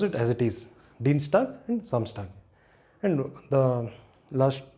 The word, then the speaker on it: Dienstag: And if it appears inside a word, like this, Dienstag and Samstag, then you pronounce it as it is, Dienstag and Samstag.